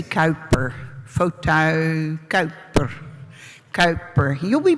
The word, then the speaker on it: Kuiper: It's a Dutch name by a good Dutchman, like Huygens, also a really nice name to pronounce, but that's double difficult.